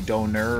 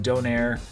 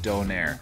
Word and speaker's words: donair: they call it a Donaire the place is called uncle Mose don't airs and that's how it's pronounced Donaire so if you don't